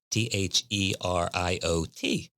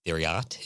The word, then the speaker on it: Theriot: That's Theriot. Marcus and Herbert. I guess it would be Theriot if it was pronounced the way it's spelled, but it's Theriot.